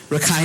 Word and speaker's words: Rakhine: english at cedar university rakhine state as or as you would say ricken state i'm still working on